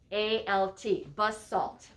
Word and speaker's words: basalt: first one is called basalt and let me spell that b-a-s-a-l-t bus salt b-a-s-a-l-t i'm going to show